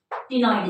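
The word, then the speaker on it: ctenoid: सो हम इसको साइक्लॉइड लिख देते हैं, साइक्लॉइड स्केल्स, और सी साइलेंट है बच्चों, टिनॉइड स्केल्स।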